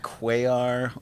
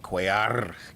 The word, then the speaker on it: Cuellar: that right uh well you could say quaar or you could go heavy on the pronunciation and be like coyar you could do that uh but you don't necessarily whatever i always say cuellar okay so i'm doing